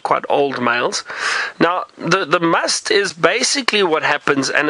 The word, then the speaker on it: musth: Preetam, you'd like to know about the elephant's musth. So I think those two bulls that Taylor saw didn't look like they were in musth, but you could see they were actually quite old males. Now, the musth is basically what happens, and it's spelt M-U-S-T-H.